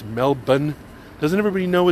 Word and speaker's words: Melbourne: And hasn't everybody been to Australia and knows that it's not Melbourne, it's Melbourne?